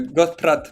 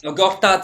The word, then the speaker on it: Gortat: le marteau polonais euh grat Martin grat ouais c'est ça g il sait pas prononcer c'est Gat Gortat c'est bon ça va etaron là c'est ok pas Gat non nonout on passe